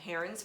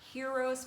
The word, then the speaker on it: Heron: useful, and it's called Heron's formula, and some people call it Hero's formula. There's an N in it. I don't know why they don't pronounce the N.